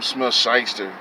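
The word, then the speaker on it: Smith-Schuster: these these like uh juju smith scheister you know that's how you pronounce his name talking about allegedly that he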